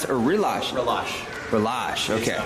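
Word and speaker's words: Relâche: All right, so We have a in Palachi, that's how you pronounce it, or Relash? Relash.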